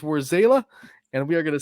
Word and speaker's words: Warzala: I'm getting it right so where's Allah or zayla which one is it because I've heard it pronounced both War zayla where's zayla okay see live on the show you heard it here it is where zayla and we are going